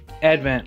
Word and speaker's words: Advent: last day of our event calendar I really love doing event calendar first year we've ever done event Calenders Advent Advent I said it wrong all year all